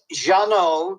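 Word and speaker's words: Jeannot: I love how you say it oh it's Jano j n n o t swark SZ w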